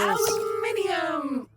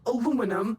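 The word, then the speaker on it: aluminium: Aluminum or aluminum as Americans pronounce it incorrectly. But that doesn't make it any less useful. One is right, the other is American.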